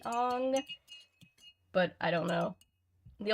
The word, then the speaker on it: Aang: after watching Avatar I I pronounce his name Eng because that's how they stayed in the show but I know it's supposed to be on but I don't know